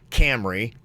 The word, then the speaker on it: Camreigh: Camry. Like the Toyota? It's spelled Camreigh. I don't like it because you're right. It sounds like you named it after a car.